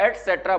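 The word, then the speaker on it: etcetera: होती है भाई इसकी ई टी सी ई टी ई आर ए ठीक है एटसेट्रा बोलते हैं इसको क्या बोलते हैं इसको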